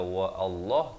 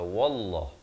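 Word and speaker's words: والله: dia hilang fungsi bacaannya Jangan dibaca Wah Allah tapi baca wallah bacanya dengan wallahu allah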